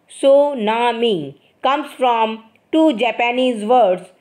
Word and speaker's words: tsunami: number of people and property the word tsunami pronounced tunami comes from two Japanese words Su means Harbor and Nami means wave the word tsunami pronounced tunami comes from two Japanese words Su means Harbor